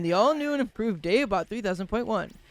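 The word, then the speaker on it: Dave-Bot 3000.1: all new and improved Dave bot 300.1 the point on is silent Dave bot tells us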